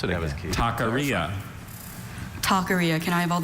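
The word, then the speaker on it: taqueria: Good thing he asked him to pronounce it again. Takaria.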